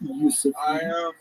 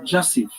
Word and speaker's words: Jasif: It's not Yusuf. It's actually, phonetically, it's pronounced Jasif, Jasif, and so that is the name